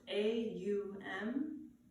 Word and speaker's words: Om: a universal vibration of ohm that is said to be the sound of the universe it is pronounced a um though it's spelled om I invite you to